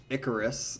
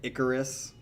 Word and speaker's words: Icarus: So, all right, this song is called Icarus, I think is how you say it, Icarus.